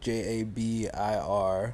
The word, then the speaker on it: Jabair: So it's actually Jabair, Jabir.